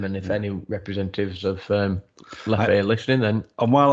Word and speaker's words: Leffe: Is it Lef? It's Lef because although it's a Belgian beer, it's the French-speaking part of Belgium that it's made in, and it's Lef.